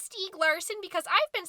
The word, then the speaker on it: Stieg Larsson: you sure it's pronounced Stieg Larsson because I've been saying stay gleason and that's because of our regional dialect it's Swedish so you're supposed to say it like it's Swedish and I'm 20% Swiss